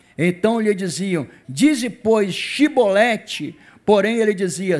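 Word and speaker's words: Chibolete: Então lhe diziam, dize pois Shibolete, porém ele dizia Sibolete, porque eu não podia pronunciar assim bem.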